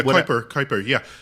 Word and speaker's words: Kuiper: Yeah, Kuiper.